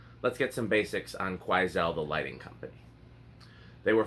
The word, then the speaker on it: Quoizel: I've heard other people pronounce it Quoizel, and so I had to look up the correct pronunciation, and it appears to be Quoizel.